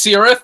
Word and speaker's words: Cirith: uh in the chat is it a hard sea sound or is it a soft sea sound are we kir or sir so they say it's sirth so out of deference